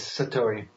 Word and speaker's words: Satori: you had quite an event that's called a Satori is that the correct way to say it yes yes Satori tell us what that is and what happens